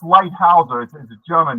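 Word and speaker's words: Leithauser: It's pronounced Lighthouseer.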